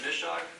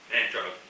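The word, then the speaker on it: Manchaug: How do you pronounce that? Mishog? Manchog. Manchog, okay.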